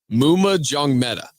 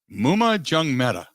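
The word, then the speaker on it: Maema Njongmeta: The other one, how do you pronounce his name properly? Muma Jungmeta. Muma Jungmeta. Okay. Because I screw it up terribly every time. So Jim Leonhard talked about why Jordan Turner and Mumu Jungmeta won the starting jobs at the inside linebacker position.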